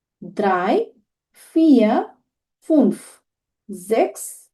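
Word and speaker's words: sechs: জিরোকে নুল, ওয়ান আইন্স, টু সোয়াই, three দ্রাই, four ফিয়া, five ফুনফ, সিক্স জেক্স, seven জিভেন, eight আট, nine নয়ন, টেন সেন, 11 এলফ, 12 সোলফ। তাহলে আমাদের উচ্চারণগুলো অনেক ভিন্ন হচ্ছে।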